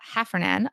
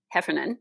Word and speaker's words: Heffernan: have your co-author lisa half run in on a did i say her name correctly I hope Heffernan yes on a future episode